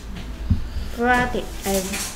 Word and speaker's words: breathe: EA는 E나 A가 된다 했습니다. 네, E, 그 중에 E가 됐어요. 네. 그래서 E는 breathe. TH 혀 살짝 물고 the. Breathe.